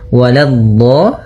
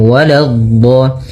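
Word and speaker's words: وَلَا: Waladh, la-nya jangan sampai tebal, jangan waladh, tapi la-nya tipis, waladh, baru di dhad-nya yang tebal.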